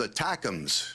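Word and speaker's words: ATACMS: missiles until now uh stat side they're called attachs which sounds like a a Nifty little uh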